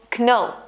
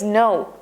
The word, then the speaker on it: know: For example, no instead of no. The correct way is no because the K is silent.